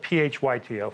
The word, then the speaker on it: phytochemicals: And started looking and started designing a diet that was just rich in a lot of fruits and vegetables, phytochemicals. Phytochemicals. That's spelled P-H-Y-T-O, phyto. Phyto.